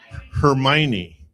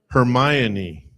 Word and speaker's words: Hermione: What is it? Hermione. No. Hermione.